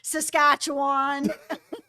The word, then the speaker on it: Saskatchewan: Also, it's pronounced Saskatchewan.